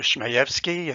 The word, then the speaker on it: Shmayevsky: as i mentioned earlier my name is dr shmayevsky and that's how you pronounce it but typically i go